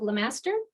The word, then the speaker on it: Lemaster: double check um that I was have been pronouncing your name correctly but Lemaster does that do that right yeah okay perfect